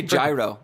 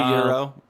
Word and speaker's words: gyro: You want to say gyro. I have a feeling you say gyro a lot. And it's actually gyro.